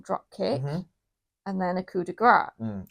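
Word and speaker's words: coup de grâce: kick, and then a coup de grace. Or coup de grace. Coup de grace. If you believe Michael Cole. The S is silent, technically. He always says the S.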